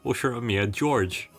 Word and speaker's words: Ushiromiya George: His name is Japanese characters, pronounced Ushiromiya George, like Curious George.